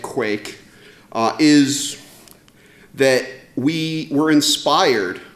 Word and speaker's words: Quaich: So the reason that I called it a Quake, and it is pronounced like Quake, is that we were inspired by something that Amazon released recently called Chalice.